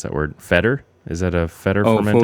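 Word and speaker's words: foeder: I never know how to pronounce that word. Feder? Is that a Feder fermented? Foder.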